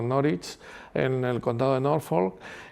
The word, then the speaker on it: Norwich: la está ahí en Norwich, pronunciado Norwich, en el contado de Norfolk, que fue es la segunda la segunda universidad que más he visitado yo en Inglaterra.